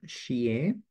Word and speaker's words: Shieh: I'm Shieh, and that is how you pronounce my name.